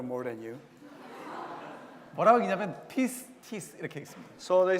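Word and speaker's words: πίστις: 뭐라고 읽냐면 pistis 이렇게 읽습니다.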